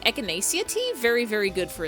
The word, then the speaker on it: echinacea: Supersman 300 says echinacea. I'm pretty sure it's echinacea? Google, how do you pronounce that?